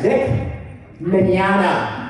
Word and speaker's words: Vic Mignogna: name is dick menana i say it that way because nobody knows how to say it i bet i've had five people from up here much easier than it looks you got all these wasted letters wow i hate being